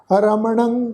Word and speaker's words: रमणं: रमणं केवलं कीर्तनं। रमणं रारा मम्मा अखर, फिर नाना अखर, उहदे उत्ते टिप्पी की मात्रा, नासकी उच्चारण होएगा रमणं।